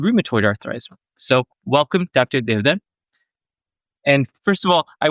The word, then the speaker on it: Deodhar: So I'm known around in the US as Devdar, Dr. etc. But Devdar is the correct pronunciation, which is, I rarely hear it. But of course, people with the Indian tongue can say Devdar.